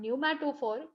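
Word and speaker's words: pneumatophore: हमने नाम दिया है न्यूमेट फॉर पी साइलेंट है देखिए या तो इसको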